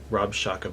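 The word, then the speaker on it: Rabshakeh: called the Rob Shaka Rob Shaka by the way is not his name please understand that it's the Hebrew pronunciation of some a Syrian military title well king hezekiah of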